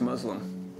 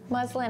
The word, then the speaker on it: muslin: going to be honest I thought these were pronounced Muslim no muslin is a type of fabric I thought it was Muslim like a thin woven